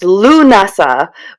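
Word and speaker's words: Lughnasadh: I later read it's pronounced Lunasa, but I think many witches prefer to say Lamas because because of its forgiving lack of Celtic consonants.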